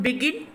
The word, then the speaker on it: begin: And next one, begin and also begin, yeah, these also the verb, so that's way the last syllable is the stressed syllable.